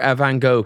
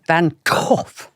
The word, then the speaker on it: Van Gogh: No, it was the one where Van Gogh came back to life.